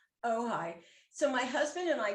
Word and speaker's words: Ojai: pronounce it oh yeah it's a tricky one o j a i it's too much indian oh hi so my husband and